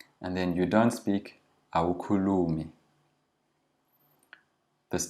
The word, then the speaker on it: awukhulumi: It's always the second last syllable that's lengthened. And then you don't speak awukhulumi.